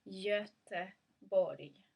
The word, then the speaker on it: Göteborg: So the correct way of saying Gothenburg in Swedish is Göteborg. There's a soft G in the end as well, actually.